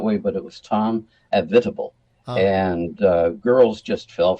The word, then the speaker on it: Avitabile: l e it looks like avat some might pronounce it that way but it was Tom avitable and uh girls just fell for this man